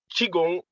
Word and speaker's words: Qigong: Qigong.